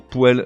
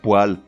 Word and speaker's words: poêle: Même remarque pour poêle, l'ustensile de cuisine ou l'appareil de chauffage. Non, on prononce poêle, dans tous les cas.